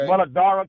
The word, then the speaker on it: Muladhara: Muladhara, the DH could be a TH sound, or you can separate Muladhara. It's all the same.